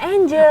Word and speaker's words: Angel: Nggak boleh kayak gitu Kak, aku kan namanya Angel ya, walaupun tulisannya Angel, cuman tetep dibacanya Angel.